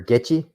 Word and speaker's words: Goettge: so the gekki patrol some people pronounce it a different way i'll just pronounce it uh gekki um or get you that's the what i've heard some of the marine veterans called to get you patrol some people say gecky but i'll just call